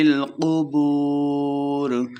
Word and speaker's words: القبور: نہیں کرنی۔ ما فی القبور، قاف موٹا کریں گے۔ بو، واو مدہ ہے، 2 حرکات لمبا کریں گے اور آخر پہ را پہ وقف کرنا ہے۔ فی القبور، وحصل ما فی الصدور،